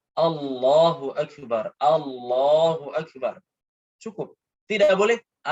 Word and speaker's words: Allahu Akbar: Tatkala pengucapan bar itu nggak boleh apa? Nggak boleh panjang. Harus Allahu Akbar.